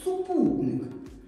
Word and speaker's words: супутник: Давайте порахуємо кількість складів в слові супутник. Говоримо повільно. Су пут ник. Тут три склади. Ось схема на три склади. І ось яка з них відповідає слову супутник.